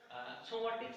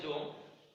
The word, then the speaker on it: সোম: এইটা অনেকে বলে জোম। তো জোম আমরা বলে থাকি, যদিও উচ্চারণের ভিত্তিতে আমরা প্রায়শ দেখে থাকি যে একটু 19-20 হয়ে থাকে, তবে এটাকে আমরা সোম বলবো।